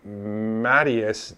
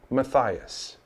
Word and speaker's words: Matthias: who do not realize that there is no mattius name and pronunciation the name whether it's spelled in any of these variations is still pronounced Matthias and is both the Hebrew and Greek form